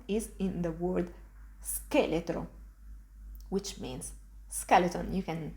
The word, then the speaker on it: scheletro: You can see again, I just pronounce s followed by ke. Ske. An example of this sound is in the word scheletro, which means skeleton.